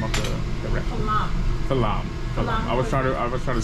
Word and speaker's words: Flanm: Falam. I was trying to spell it.